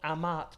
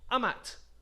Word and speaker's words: amat: t on the end but it slightly changes it it slightly changes it because that macron disappears it's not Amat but Amat am Amat means means